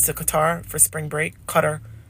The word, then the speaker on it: Qatar: Qatar. They always say, you're saying it wrong, Mom. It's not Qatar, it's Qatar. Qatar.